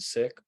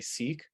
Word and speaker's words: Sikh: as preferred by the Sick Community is sick s-i-k-h almost pronounced like the word sick but with a hard Asia at the end so sick there are some people who say Seek uh but that is